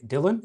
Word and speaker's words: Dillon: I am joined by Dylan. Is that is that how you pronounce your name?